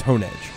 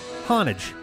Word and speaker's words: Honedge: The only way it could be pronounced is Hone Edge. Honedge.